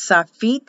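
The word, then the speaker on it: sofit: this is the final or soft feet letter it will pronounce saphite and it's spelled s-o-f-i-t but pronounced as an e the final or soft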